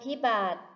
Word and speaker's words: พิบัติ: พิบัติ อ่าน ว่า ไภ พิบัติ คำ ว่า พิบัติ มี สระ ที่ ไม่ ออก เสียง คือ สระ อิ ค่ะ ภาพ ต่อ ไป เติม